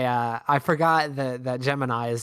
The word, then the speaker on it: Gemini: criticizing I'm criticizing NASA why would you make it gemin it's Gemini Gemini nobody pronounce it yeah uh but officially it's gemin um which is just